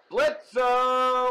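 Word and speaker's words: Blitzø: and it will be blitzer or i'm sorry blitz the o is silent the o is silent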